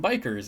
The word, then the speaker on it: bichir: In other news, back to the title, I am actually thinking about getting Victorians again and some bikers. And yes, I pronounce it biker.